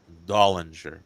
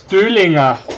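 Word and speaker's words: Döllinger: Over here we call him Dollinger, but yeah, you're probably pronouncing it better. Yeah, it's with the umlaut, you know. Ignaz von Dollinger. Yeah, precise. Yeah. In German it's Döhlinger because it's with, okay.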